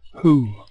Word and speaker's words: who: went to college today who looks like who but sounds like who the W is silent if I took the W off that would be ho but we pronounce the word like that who who my this is